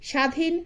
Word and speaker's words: স্বাধীন: এরকম আরো কিছু উদাহরণ হচ্ছে শ্বশুর, স্বাধীন স্বজন। অর্থাৎ শব্দের আদিতে ব্যঞ্জন বর্ণের সঙ্গে যদি বফলা যুক্ত থাকে তবে সেই বফলার কোন উচ্চারণ হবে না।